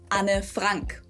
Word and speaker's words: Anne Frank: in German and Dutch, her name is actually pronounced Anne Frank. Whoa. Anne Frank. Anne Frank. Oh. Okay. So instead of it just being one syllable, Anne, it's 2 syllables, Anne, and then the last name just has the German A vowel.